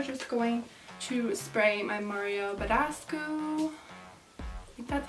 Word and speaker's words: Mario Badescu: look we are just going to spray my Mario Badescu that's how you say it we're gonna just